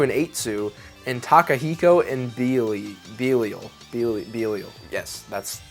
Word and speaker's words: Belial: Newcomers to this game include Hikaru and Akane, Mambo and Samba, Michael and Gabriel, Koitsu and Eitsu, and Takahiko and Belial. Yes, that's how you pronounce it.